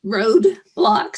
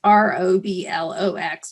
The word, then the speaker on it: Roblox: Because I would call it what did I say? Roadblocks. She's like, Mom, you got to say it correctly. You sound so old. So it's Roblox, just for anyone else out there.